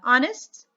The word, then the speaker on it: honest: three words what are they ours and uh honest okay okay and we have honor be shut